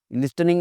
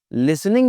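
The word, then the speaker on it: listening: Problem आ रही है, लिस्टनिंग में बड़ी प्रॉब्लम आ रही है, कभी कुछ, कभी कुछ। लेकिन टी की आवाज़ को वो नहीं साइलेंट कर रहा। मुझे क्या कहना चाहिए था उसको? मुझे लिसनिंग में प्रॉब्लम आ रही है।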